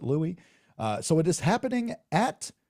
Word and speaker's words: Louis: Louis pronounced it Louis. They pronounce it Louis.